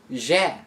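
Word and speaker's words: ж: this after that is the letter z a very distinct looking letter has pronounced like the s in words like pleasure this letter is usually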